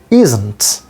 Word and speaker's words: isn't: Isn't. The pronunciation is isn't, and there is no difference in British and American pronunciation.